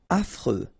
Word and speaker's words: affreux: Affreux. Final X not pronounced. And then you get this fr, freux, affreux.